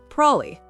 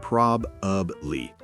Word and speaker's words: probably: Like probably. How do we actually say that? Prob'ly. We say prob'ly. Prob'ly. Yes, not prob-ub-ly.